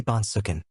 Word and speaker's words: Bonsuk: the court said please state your name and spell it the witness said my name is Lou bonsuk it's l UI e last name bonsuk b